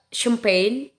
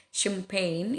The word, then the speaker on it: champagne: Ini nggak dibaca g-nya, ini g-nya champagne, ini nggak dibaca karena dia diikuti oleh huruf n.